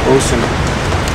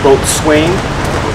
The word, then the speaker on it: boatswain: The original pronunciation was boatswain. Swain, but sailors are really good at compressing words and making them shorter. And boatswain, over a few years, the generations of sailing becomes bosun.